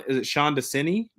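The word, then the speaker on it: Desai: the only person I believe who left, Sean Desini, is how you pronounce it, is now the defensive coordinator in Arizona.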